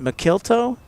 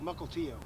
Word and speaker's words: Melo: how do you pronounce is it melto no it's Melo Melo yeah Melo okay see